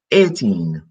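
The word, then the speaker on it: eighteen: IG HT en 18 remember the G and the age are silent so 18 a 18 then 19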